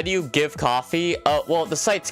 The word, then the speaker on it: Ko-fi: How do you give coffee? Well, the site's called Coffee. It's pronounced it's spelled Ko-Fi, but it was originally called Coffee.